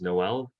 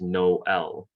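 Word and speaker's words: Noël: So there's a good example here of what in English would be read as Noel, Noel, but in French is instead pronounced Noel. Notice how there's a bit of a break in between the first half and second half of this word.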